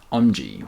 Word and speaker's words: Aumji: It's Aumji, Aumji, which is like Om, like the sound the universe makes.